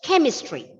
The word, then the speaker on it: chemistry: The first syllable will be stressed. Chemistry.